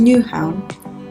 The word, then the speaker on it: Nyhavn: This Instagrammable harbour in Denmark, pronounced Nyhavn, was bustling with life.